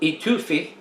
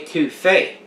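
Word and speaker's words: étouffée: and fraud a2 faith not etuphy or etufi it's a tufay fricase that is a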